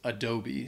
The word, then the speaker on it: Adobe: know from computers and it's pronounced Adobe so the first a is the schwaha sound and the e at the end is the long e sound it's not Adobe it's